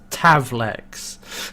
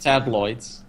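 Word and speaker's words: Tavlek: throughout the episode yeah it's tav Lex not sad Lloyd's to have tablets on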